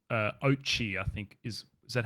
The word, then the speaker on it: Oatchi: this little dog called Oatchi, I think is that how you say it? Oatchi.